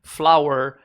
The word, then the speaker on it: flower: Você sabia que a palavra flor, flower, e a palavra farinha, flour, tem a mesma pronúncia?